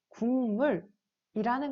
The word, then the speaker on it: 국물: 자, 그래서 비음화의 예시를 다시 한번 생각해 보면 자, 우리가 국물이라는 것을 발음을 할 때 기역이 그대로 기역대로 소리 나는 것이 아니라 뒤에 미음에 의해서 이응으로 소리가 난다고 했죠.